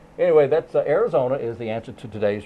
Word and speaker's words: Arizona: state of Arizona or some people would say aerona but then they would have said it wrong anyway that's Arizona is the answer to